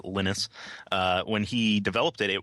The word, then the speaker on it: Linus: correct yeah when when Linus lynus he pronounces it lynus when he developed it